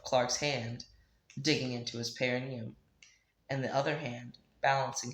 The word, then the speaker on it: perineum: He's supported by the palm of Clark's hand digging into his perineum, and the other hand balancing him by the throat. Hold on. Did I pronounce that word correctly?